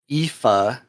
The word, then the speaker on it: Aoife: is how you say the name, so remember, Aoife, who made it on 2 lists. Those 2 were me and Felix, and not Dexter, of course. Felix, what does Aoife do, and why did you pick Aoife?